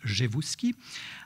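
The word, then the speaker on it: Rzewuski: le montre par exemple jeevuski qu'on écrit RZ mais qu'on prononce jeevuski un noble polonais qui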